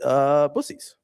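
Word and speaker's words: Buc-ee's: All the locals are pronounce it Buc-ees.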